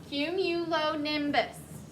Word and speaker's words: cumulonimbus: read that last sentence not cumulose cumulo hume you low nim bus so put it all together cumulonimbus separate the um the syllables cumulonimbus cumulonimbus think about when you've